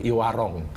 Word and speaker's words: e-Warong: Jadi kalau yang model kita ini iwarung ini sebetulnya bukan Iwarung bacanya iwarung tapi tulisannya yang baru tuh iwarong i pakai O karena itu singkatan dari elektronik warung gotong royong.